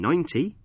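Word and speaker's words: ninety: In 19, we stress the second syllable, teen, and in 90, we stress the first syllable, 9.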